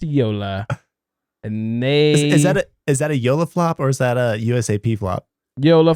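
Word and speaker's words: JOOLA: It's a paddle pronounced Yola.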